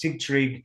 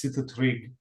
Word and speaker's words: Sigtrig: So it's Sigtrig, and the longer version was Sitrig even longer ago, but Sigtrig is the easier to pronounce version.